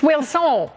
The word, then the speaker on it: Wilson: Now, when I got all enthusiastic just then, you looked like I hadn't pronounced your name right. It's Will Soul.